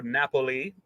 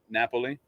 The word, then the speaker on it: Napoli: That would be the city of Naples, or Napoli. Question number 3. That's how they say Naples in Italy, isn't it? Napoli.